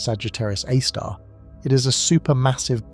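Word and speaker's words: Sagittarius A*: Scientists call it Sagittarius A, pronounced Sagittarius A star.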